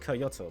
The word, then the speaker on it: Kyoto: pollies and i need coyote waterfront uh i know it's pronounced kyoto but it looks like okay youtube there you